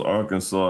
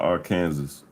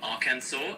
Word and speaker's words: Arkansas: Why is it pronounced Arkansas and not Arkansas? You know, that's one of those quirky language twists. It actually comes from the French pronunciation of a Native American word. So they say Arkansas instead of Arkansas, and that just stuck over time.